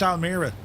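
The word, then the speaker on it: Almere: We were looking for places in um Almir. I remembered Almir, right? Uh, go into maps. We need to find places to visit Almir. Seemingly, it's pronounced Almir, you see.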